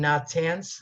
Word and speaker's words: Natanz: 2010, at the Iranian nuclear power plant in Natanz, I believe that's how you pronounce it.